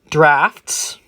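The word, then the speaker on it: draught: double glazed windows finally drafts can come in in the gap under the door under a door this can be prevented with a draft excluder english is great isn't it the d-r-a-u-g-h-t pronounced draft a draft excluder these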